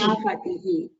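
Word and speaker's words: सेनापतिः: Senapatihi. Yes, you should not miss the visarga. You should always pronounce the visarga.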